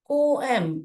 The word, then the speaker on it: poem: chance पहले ये एक पम है राइट इसको कैसे प्रोनाउंस करते हैं हो अम पो एम ऐसे प्रोनाउंस करते हैं okay the pronunciation should be पो एम पोम नहीं बोलना चाहिए हो एम हो एम